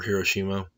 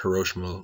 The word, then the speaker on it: Hiroshima: This is the mushroom cloud over Hiroshima, or Hiroshima. Different pronunciations on that, after the bomb had been dropped. Next slide. This is what Hiroshima looked like after the bomb had gone off.